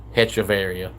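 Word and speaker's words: Hechavarría: was in the league, all the commentators kept saying his name was Adeiny Hechavarria. So, I was saying it. And then they found out it was pronounced Hechavarria. It looks like Hechavarria.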